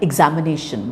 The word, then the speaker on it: examination: prominence all right now you take the word like examination which has five syllables the second syllable which is am and